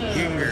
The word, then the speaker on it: Ginger: He told me he pronounces his name like Singer, but with a G, so it's Ginger.